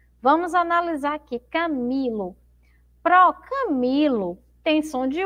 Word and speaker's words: Camilo: Então, a sílaba mais forte é o mi, não é?